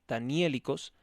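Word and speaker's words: daniélicos: histórico de los relatos danielicos con acento en la e danielicos han de solucionarse en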